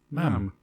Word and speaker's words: ma'am: And then forevermore, ma'am. It rhymes with jam and ham.